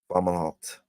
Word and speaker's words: Fomalhaut: And you have Fomalhaut. Or some people like to pronounce it Fomalhaut.